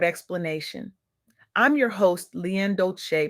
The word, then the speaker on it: Dolce: I'm your host Lianne Dolce, pronounced dol-say, like sweet softness whispered in French, and I'm your guide